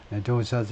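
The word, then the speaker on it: dosa: 이들리라고 발음을 하고, 영어에서는요, 그 다음에 도사스, 이것도 첫 번째 음절에 액센트를 둬서 도사라고 발음을 하는데, 이들리스는 주로 이렇게 생겼고 쌀 가지고 물로 만들었고요.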